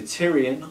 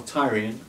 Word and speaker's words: Tyrian: The Tyrian, or Tyrian, I pronounce it both ways because sometimes I feel like saying Tyrian because everyone else says Tyrian, but I've always said Tyria.